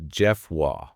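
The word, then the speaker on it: Geoffroy: It's pronounced Jeff Wah. Jeff Wah.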